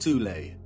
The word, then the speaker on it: Thule: secret society within germany called the soul society sometimes alternatively pronounced tulay that had sub-factions within